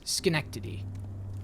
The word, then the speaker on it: Schenectady: The town in New York is Schenectady. And it's pronounced like that.